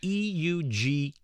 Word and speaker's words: Eugeria: And I'll spell it as EUGERIA, Eugeria.